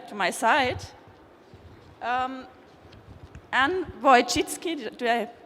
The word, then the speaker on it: Wojcicki: i have here to my side um and boy chitsky do i pronounce it right correct and linda avey the